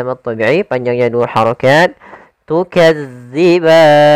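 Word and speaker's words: تُكَذِّبَانِ: thobii panjangnya dua harakat tukadziban hati-hati dalam melafalkan huruf dalal karena di sini bukan huruf z jangan tukazziban tapi dia tukazziban Kemudian pada lafal ban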